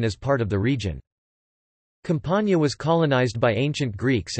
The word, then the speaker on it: Campania: Campania, Italian pronunciation, Campania, is a region in southern Italy.